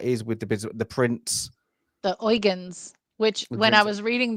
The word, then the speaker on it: Eugen: other ship that is with the prins the oans which when I was reading the book I read it as Eugene but it's thankfully you know watching the film